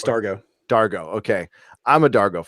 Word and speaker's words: Dargo: say it do you say it yeah it's Dargo Dargo okay I'm a Dargo fan and I